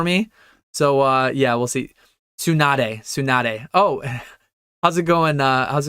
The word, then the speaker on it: Tsunade: Tsunade, you pronounce the E.